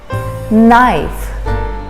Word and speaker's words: knife: the kitchen a knife we don't say the k the k is silent knife knife i always sharpen